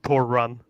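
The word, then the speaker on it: Torunn: like you know her first name is actually pronounced Thor run so like torun has a Tor run yeah you know honestly I she's proven to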